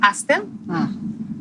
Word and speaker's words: አስቴር: - No First of all, 'Ester' is a name in Amharic, too - Really? - You pronounce it 'Aster' But it's the same